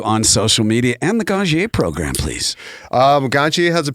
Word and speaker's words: Ganjier: GANJIER. Yeah, like a sommelier. And some people call it GANJIER.